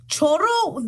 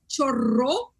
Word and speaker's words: chorro: the these words up choro they said it was thief no no no because you're you're rolling the r so if you're rolling the r it's chorro which is what i said but it's spelled the